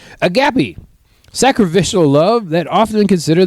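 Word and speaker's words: agape: Agapi. That's how you say it. A G A P E. Um Read article. Let me know if I'm saying any of these correctly. Agapi.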